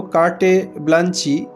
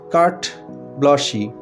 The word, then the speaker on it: carte blanche: উচ্চারণটা লক্ষ্য করো বন্ধুরা, লেখার সময় আমরা লিখছি CARTE BLANCHE। মনে হচ্ছে যেন কার্টে ব্লাঞ্চি, কিন্তু তা নয়, এটার উচ্চারণ হচ্ছে কার্ট ব্লশি।